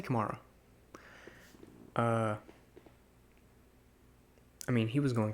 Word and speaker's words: Kamara: How do you say it? I say Kamara.